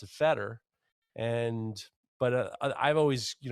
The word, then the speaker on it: Feder: called it they used feder so I I don't really take much more about that than than it is but it's very it's very very close to the German pronunciation so there's not much